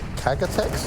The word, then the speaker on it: K-Tex: told now as well how to say K-Tex. It's called Kagatex? Kagatex, potentially. Let's try it, as long as we're not saying anything too rude. Kagatex? They said that's how you say it in Portuguese.